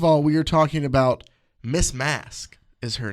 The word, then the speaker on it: Masque: we are talking about Miss mask is her name m mask is it Miz or M Ms Ms so miss mask okay mask and mask is spelled m s QE like masquerade yuck her real name